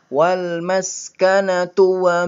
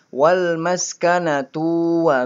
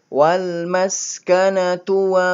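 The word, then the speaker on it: وَالْمَسْكَنَةُ: tapi walmas karena Tuh Disini tuh nya pendek hati-hati bacanya cepet-cepet Ya walmas kena tua Mbak Jangan sampai walmas karena tua bak jadi punya dibuat sependek temponya lebih cepat walmas kena tua bye ubi Hongkong bimbin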